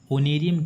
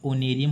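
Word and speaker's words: honorarium: holding यानी खेत जोत होमेज यानी श्रद्धांजलि होस्ट यानी होता है परितोषी या अतिथि होनेरियम होता है मानदेय ओनेरियम क्या होता है मानदेय इसमें एज साइलेंट है ओनेरियम होता है मानदेय हॉर्टिकल्चर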